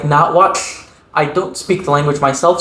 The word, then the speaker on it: Nahuatl: That language in English we call Nahuatl. In the language itself, it's pronounced more like Nahuatl.